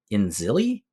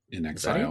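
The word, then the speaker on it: inXile: them it was uh in zilli in Exile pronounce it Exile in Exile oh that that would make in zilli doesn't make any sense in Exile makes a lot of sense uh in Exile entertainment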